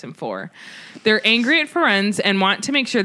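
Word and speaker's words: Firenze: We meet a new centaur named Ferenz. That's what I call him because that's how they say it. Jim Dale says Ferenzi.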